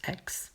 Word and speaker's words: Aix: Ça se prononce Aix.